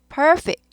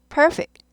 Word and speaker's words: perfect: 그래서 액센트 아주 중요해요. perfect입니다. perfect 아닙니다. perfect, perfect, perfect. fact 아니고 fic처럼 들리죠? perfect, perfect.